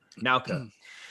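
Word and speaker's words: Naoka: Is it Nauka or Noka? Yeah, Nauka.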